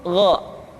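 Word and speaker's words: غ: Diucapkan seperti kita mengucapkan huruf Kha, yaitu diucapkan dari pangkal tenggorokan kita. Yang membedakannya adalah Kha mengalir nafas dan Gha tidak mengalir nafas. Dan keduanya memiliki persamaan, yaitu memiliki sifat al-isti'la. Sehingga kedua huruf tersebut ketika diucapkan, suara kita mesti terdengar menebal.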